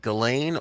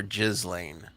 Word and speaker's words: Ghislaine: question what is more what's more classy galane or jizzling because that's the two pronunciations of her name you think she rolled